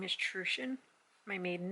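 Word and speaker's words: Truchan: who grew up with my last name is trueshin my maiden name and i just t-r-u-c-h-a-n and i had so many people pronounce it wrong all the time and it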